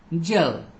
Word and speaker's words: gel: Gel. Not gel. Gel. Okay. When it comes before I, Y, E, then time we have to pronounce it as J, not G.